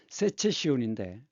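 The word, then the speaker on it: Secession: 그것이 이제 독일어 발음으로 세체 시온인데 그래서이 세 이것을 분리파라고 얘기하죠.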